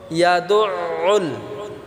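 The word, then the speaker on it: يَدُعُّ: ইয়াদুউল, দাল দিয়ে আইনকে ধরব। ইয়াদু, দু বলতে আমরা গলায় চাপ দিতে হবে, আবার উল একসাথে আমরা গলায় চাপ দিয়ে এই শব্দটিকে আমরা উচ্চারণ করব।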